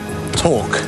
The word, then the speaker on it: torque: Jacob, rhyming with fork, what is a force applied in such a way that it produces rotation? Torque.